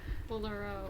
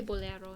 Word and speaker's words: bolero: So it comes from Spanish, bolero. Bolero? Probably bolero in Spanish, right? Bolero. It has an accent mark on the E, it looks like. Bolero. So it's probably bolero. I've been saying it wrong my whole life.